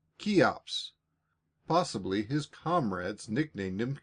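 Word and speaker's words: Cheops: His name was a very odd one, spelled C H E O Ps, and pronounced Kops.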